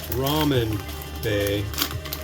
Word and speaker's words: Ramen Bae: Today we've got one from the Ramen Bay. It's spelled like that.